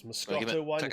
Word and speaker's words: Moscato: Moscato or Moscato. How do you pronounce it? Oh, Moscato.